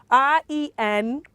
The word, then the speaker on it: rendezvous: Okay, so RENDEZVOUS. How do you pronounce that, or how will you pronounce that?